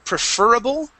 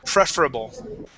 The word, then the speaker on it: preferable: now here class uh we can pronounce this word preferable or preferable okay either way is correct uh I've uh I've said both okay you may hear them used both ways preferable and preferable okay